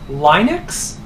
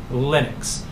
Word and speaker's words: Linux: people who want to call the operating system linux but Linus Torvalds himself has said the computer operating system he designed is in fact Linux so it is pronounced Linux and he didn't